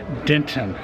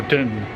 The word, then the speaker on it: Denton: Michael that's normal that's the Texas accent you have that soft tea almost an N for the tea for Denton Texas and speaking of Texas